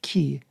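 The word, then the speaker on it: כְּ: And the Hebrew prefix, a one-letter prefix, the letter is chaf, and we pronounce it ki, has the meaning like.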